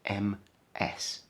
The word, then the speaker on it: Ms: both of these with m s and this is pronounced ms so we could write